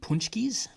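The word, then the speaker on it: pączki: That is such a weird name. And it's spelled not like that. It's spelled like Pulzcki. Too many vowels in a word. Yeah, it's spelled like a Polak spells it because it's Polish.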